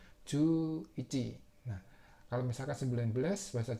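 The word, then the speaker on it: 十一: Jadinya bacanya ju ichi.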